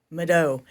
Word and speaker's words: Mvto: Mado. So it's pronounced kind of like a U.